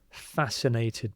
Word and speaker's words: fascinated: So the C you don't really hear at all fascinated by.